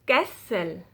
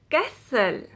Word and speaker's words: castle: n t l e you do not pronounce a t in this word normally silent t if a word ends